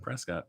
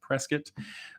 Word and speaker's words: Prescott: I know I pronounced that right. It's not Prescott. Prescott.